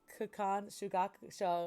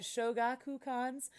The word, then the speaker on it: Shogakukan: evil half demon niraku inuyasha was serialized in khan show oh sorry sorry for pronunciation uh shoga kukan's weekly shonen sunday from november 1996 to june 2008.